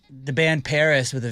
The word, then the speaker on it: PVRIS: The band Paris with a V, remember that?